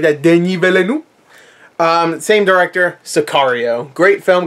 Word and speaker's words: Denis Villeneuve: I think it's Denis Villeneuve. Denis Villeneuve. I think that's how you pronounce it. You say it like that, Denis Villeneuve.